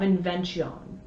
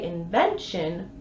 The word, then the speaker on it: invention: If you say invention properly, the line trails off. No last stress. Only 9 syllables for the line. Not exactly wording inspired by the brightest heaven. In Shakespeare's day, it would have been much more acceptable to say invention.